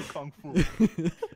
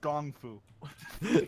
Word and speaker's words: kung fu: China and I've discovered discovered how to do kung fu it's actually pronounced gong Fu okay is happen just like